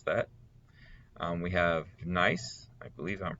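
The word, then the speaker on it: gneiss: that um we have nice i believe i'm pronouncing that right uh well there we go yeah so it's pronounced nice according to the internet all right horn fells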